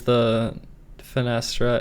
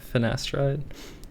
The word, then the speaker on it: finasteride: Uh is the finest is that how you say it? Finasteride. Yeah, finasteride. that um part of like